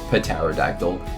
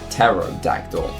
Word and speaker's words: pterodactyl: with the letter P the p is silent because you don't say pterodactyl you say pterodactyl which is a very